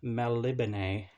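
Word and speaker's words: Melniboné: well this is michael or fox elric of malibune as i looked up the pronunciation for that one and yeah it says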